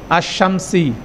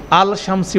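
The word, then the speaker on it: الشمسي: আল লামটা silent হয়ে যায়। আশশামসি। আলশামসি বলেন না।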